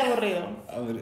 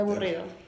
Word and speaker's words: aburrido: Como un burrito, pero aburrido.